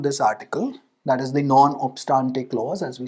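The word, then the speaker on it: non obstante: article, that is the non-obstante clause, as we say it in law, non-obstante if you want the Latin pronunciation, the President may, by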